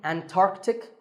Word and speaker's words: Antarctic: Similarly, Antarctic and Antarctica.